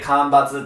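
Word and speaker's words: 間伐: 間を伐採するってことで、これで間伐って読むわけなん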